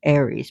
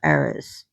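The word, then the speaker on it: Ares: because she caught her in bed with her lover Aris aka Aries but it's pronounced Aris.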